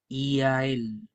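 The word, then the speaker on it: iyael: Y a él, ¿ya? Y esta palabra la voy a separar para que entiendan su pronunciación más correcta. Son tres sílabas. Y, a, él.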